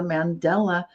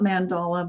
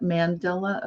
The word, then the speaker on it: Mandela: so that's why it's called the Mandela not mandala but Mandela effect which may sound like someone's name name and it is it's named after Nelson Mandela who a lot of